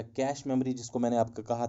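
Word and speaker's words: cache: Registers के बाद हमारे पास रहता है कैशे मेमोरी या कैश मेमोरी, जिसको मैंने आपको कहा था, इसको एक्चुअल प्रोनाउंसिएशन इसकी कैश मेमोरी है, या आप कैशे मेमोरी कह सकते हैं, ये नाउन है, आप कुछ भी कह सकते हैं।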